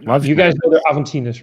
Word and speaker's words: Aventinus: I pronounce it wrong whenever I call it Avenidas. Aventinus. Yeah.